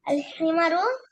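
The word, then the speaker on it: الحمار: আল হিমারু আবার এন উচ্চারণ করেছো, এনটা হবে না আল যদি হিমারু আলিফ লাম আসে। রাইট। আল হিমারু সগীরুন হিমারু না, ওয়াল হিমারু।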